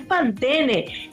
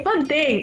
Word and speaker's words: Pantene: Me corrige alguien porque estamos hablando de champú Pantene, y alguien me corrige y me dice, no se pronuncia la E, no es Pantene, es Pantene.